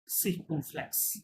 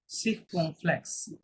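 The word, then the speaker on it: circonflexe: দেন 3 number আকসনটা দেখেন, এটাকে বলে আকসন সিরকুমফ্লেক্স, কি বলে, সিরকুমফ্লেক্স, কি হতে বলে, ইখ Sikh সিরকুমফ্লেক্স, সিরকুমফ্লেক্স, sequin sequin flex flex, Circumflex. ইংরেজিতে আমরা বলি সার্কামফ্লেক্স, তাই না, ফার্স্টে বলে সিরকুমফ্লেক্স।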